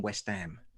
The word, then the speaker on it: West Ham: So when we moved to East London, she made sure that I was the only kid on our street that pronounced the H in West Ham.